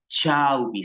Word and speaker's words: chubby: Se escribe chubby, ¿sí? Chauvi se pronuncia, chauvi.